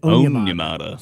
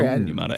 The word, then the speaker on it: Onyemata: And then I came to find out that I was saying David Onyemata's name wrong for 3 years also. It's David Onyemata. Sorry. Onyemata.